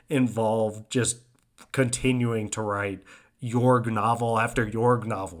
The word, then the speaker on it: Jorg: The main character is, I think it's supposed to be pronounced Jorg, Jorg, but sometimes Jorg is said. But let's say Jorg, and Lawrence has said,